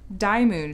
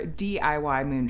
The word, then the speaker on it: DIYMoon: fabulous folks over at die moon shop or diy moon shop depending on how you'd like to pronounce it here's their branding you